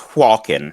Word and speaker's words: Hakon: It's pronounced Hwalkin.